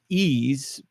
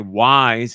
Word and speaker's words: Ys: Somebody brought up YS, which is the title of the game, which is pronounced ease, but we people would say wise instead of that, or yes as well.